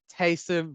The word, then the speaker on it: Taysom: it rhymes with wholesome jameis taysom rhymes with polson so i'm going with